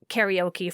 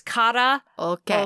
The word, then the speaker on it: karaoke: let me tell you a little bit about karaoke first the word is often mispronounced well i think i've been mispronouncing it